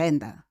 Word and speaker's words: Venda: How has it been for you as a child growing up I in think Venda?